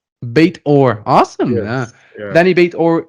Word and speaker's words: Beit-Or: you say let your last name in Danny bate Orr baitor awesome yeah Danny bait or and he has